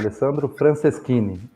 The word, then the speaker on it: Alessandro Franceschini: É assim mesmo que pronuncia, Alessandro? Isso aí mesmo, Antônio Cláudio, Alessandro Franceschini.